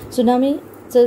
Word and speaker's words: tsunami: त्सुनामीचं spelling बघा, TSUNAMI असं आहे, प्रोनाऊन्सिएशन त्सुनामी असं, तचं अगदी सायलेंट उच्चार आहे त्सुनामी.